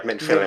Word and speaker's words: Minfilia: Yeah, Minfilia. Minfi. Okay, I didn't know how to pronounce it, that's what I was questioning.